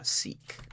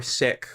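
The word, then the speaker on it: Sikh: someone who is uh seek or sick or however how however you pronounce that particular religion, right? Um I'm going to go with seek because that's what I always hear and uh the people locally to me um who are generally pronounce it as seek.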